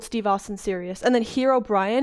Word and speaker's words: Herobrine: And then Herobrian is just how I pronounce Herobrine because apparently it's Herobrine, you know.